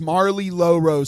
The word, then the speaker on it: Marlie Lorose: It's Marlie Lorose. So just spell it.